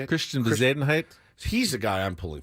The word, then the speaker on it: Bezuidenhout: I know it sounds like you're sneezing when you say his name. Bezuidenhout.